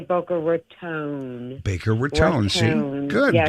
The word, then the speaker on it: Boca Raton: Did I pronounce Raton, or is it? Yeah, that's right. They actually insist that you say Boca Raton.